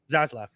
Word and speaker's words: Zaslav: And with these types of changes that you're seeing now is Zaslav, that's how you say it? Zaslav.